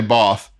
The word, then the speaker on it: bath: of of both whatsoever the british say both we we say bath and when we do